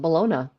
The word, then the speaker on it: baloney: balona fried up baloney we call it baloney yeah I've never heard anyone else call it balona yeah baloney balone is the only way I've known it I think that's how Canadians pronounce it most Canadians are baloney yeah yeah and the